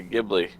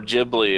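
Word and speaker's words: Ghibli: the CG film that they're working on the gibli or jibli if you're Japanese is that what it is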